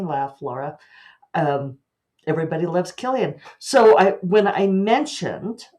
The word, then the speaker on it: Cillian: uh mild mannered librarian coincidentally named Killian but spelled with a c whereas my killing's spilled with a K but um yes I